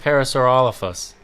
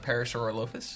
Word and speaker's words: Parasaurolophus: Took us a long time to realize that it's pronounced Parasaurolophus. For the longest time. It's not Parasaurolophus? No. Oh, wow. Yeah. Completely wrong. Yeah. Could have gone the rest of my life saying it horribly wrong.